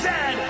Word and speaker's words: Z: And it is pronounced Zed, not Z.